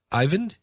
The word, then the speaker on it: Eivind: I believe it's just Eivind is how you say this.